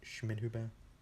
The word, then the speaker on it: Schmidhuber: Schmidhuber, is how you pronounce him.